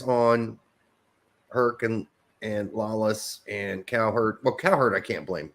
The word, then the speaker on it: Cowherd: Is that how you pronounce his name? Colin Coward. Coward. Cowherd.